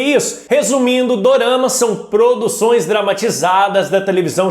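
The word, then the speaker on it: ドラマ: Resumindo, doramas são produções dramatizadas da televisão japonesa. No Japão, a pronúncia da palavra drama soa como dorama.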